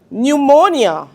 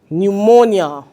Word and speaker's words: pneumonia: Pneumonia. We are not hearing the P. We are not hearing any P sound in the word pneumonia.